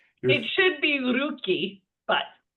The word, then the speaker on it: Rucci: It should be rookie, but we'll get we'll get there. We'll we'll we'll cross that bridge when we get there or brig brig. Your uh your roocci is like saying bruschetta.